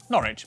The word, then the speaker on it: Norwich: stir leicester worcester gloucester w at the start of the final syllable is silent norwich beric southwark er is